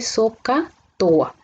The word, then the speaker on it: SOHCAHTOA: Como sabemos, la H no tiene sonido al pronunciarlo y esto se lee SOHCAHTOA.